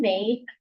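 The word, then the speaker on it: Weil: Uh I wanted to ask so Simone May, I don't know how to say her last name. W E I L. I just say V because that sound of French is um Simone May uh she talks about affliction.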